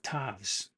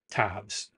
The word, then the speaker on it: Ptavvs: second work which is called world of tavs I think that's how you pronounce it P t a VVS it's a madeup word for an alien language pronounce it however you want I'm going to call it tobs silent p and so it's interesting